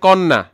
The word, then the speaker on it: কন্যা: আমরা লিখছি এখানের মধ্যে হচ্ছে কন্যা, মানে ক এর উচ্চারণ ক এর মতো করে।